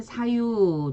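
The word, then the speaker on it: 左右: 좌우일 때는 사유 들어가고 우익일 땐 그냥 우 해서 우요크 이렇게 읽어줍니다.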